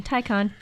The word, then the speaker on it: Taycan: Well, pronunciation, Taycan, Thai convention.